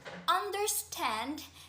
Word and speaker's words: understand: So the word understand is an anapest because it consists of three syllables and the syllabic breakdown is an unstressed syllable, un, followed by another unstressed syllable, there, and concluding with the stressed syllable stand, understand.